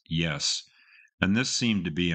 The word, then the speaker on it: Ys: her best known album spelled Ys but pronounced yes and this seemed to